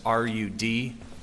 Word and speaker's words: Rudofsky: Special Agent Peter Rudofsky, that's Rudofski, and it's pronounced Rudolph and then ski.